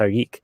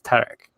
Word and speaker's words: Tarek: actual significant difference because in French the name is usually pronounced our geek but in Arabic it's Tarek so and there were other